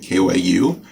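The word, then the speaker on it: 九: title 1 q84 because in japanese q like kyu u is how you say 9 so it's 1984 either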